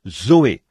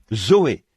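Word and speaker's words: ζωή: on se sert du même mot que l'on prononce, Zoé. Z O E. Zoé, la vie.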